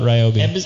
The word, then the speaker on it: Ryobi: want to pronounce it it's ryobi yeah well i i thought it would be a fun drinking game to see how many times they pronounced it correctly during the live feed and it would not have been healthy no and they never pronounced it wrong no it was it was always ryobi like they're like listen